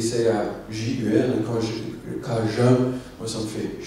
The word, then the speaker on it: Cajun: Alors, moi, quand je vais dans le pays de Dominique et je vois ça s'écrit C-A-J-U-N, Cajun, moi ça me fait chier parce que c'est pas Cajun, c'est Cajun, ok?